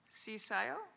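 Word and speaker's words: CCIIO: Cisio uh pronounced pronounced cisio.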